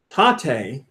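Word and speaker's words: tate: of a comment really taught a in taught a mode is pronounced tah as in top and teh as in table with equal stress given to each syllable it's Japanese for vertical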